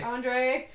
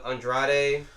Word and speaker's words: Andrade: Andre. I went through my Andrade? version. Yeah, I missed a syllable in there.